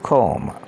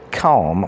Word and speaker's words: comb: C-O-M-B, comb. This can be pronounced comb or comb.